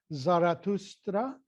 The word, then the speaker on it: Zoroaster: the the founder was zoroaster and I'm there's another pronunciation which some of you might have heard about musically zaratustra thus a very famous classical word zoroaster it was a